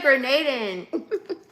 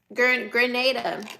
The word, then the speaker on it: Grenada: I said Grenaden. What flag is that? Is that Is that Grenada? Grenada. I said it right. No, it's not grenade.